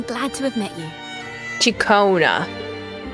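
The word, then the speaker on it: Ciaccona: My name is Jacona, a wandering bard. I'm glad to have met you. Chona. I would never expect it to be pronounced that way.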